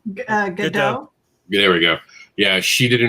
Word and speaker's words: Gadot: I know I'm saying her last name wrong. Gadot.